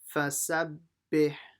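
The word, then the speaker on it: فسبح: Make sure you pronounce the ha from the middle of the throat. Bih, fasabbih. Okay, so now that line is done.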